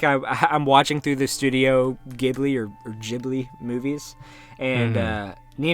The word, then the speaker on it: Ghibli: Do you know how you pronounce that? Ghibli. Ghibli? Yes. Like giblets?